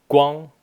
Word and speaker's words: 光: Guang. And this is, for some reason, it's pronounced Guang here, and the translation here also has it correct.